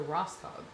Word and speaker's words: Rosco: go oh that's a that's a Rosco which is how you pronounce my last name by the way for anyone who's wondering.